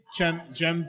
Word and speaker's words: Cem: Yeah, he said it was Jem.